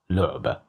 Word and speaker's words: لعبة: Here we have the letter lam with dhamma above, so that's why we pronounced it as lu, لعبة.